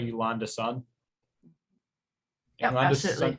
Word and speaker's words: Yolanda Sun: So Yolanda, am I pronouncing that right? Yolanda's son.